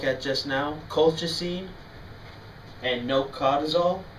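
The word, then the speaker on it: nocodazole: Two of them that we're going to look at just now, colchicine and nocadozole, or nocadozole I think is the proper pronunciation.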